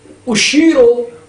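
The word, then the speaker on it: أُشِيرُ: پر اشتباہ تلفظ کیا، اور حقیقت میں اس کا اور صحیح اس کا تلفظ اشیرو ہے، فعل مضارع واحد متکلم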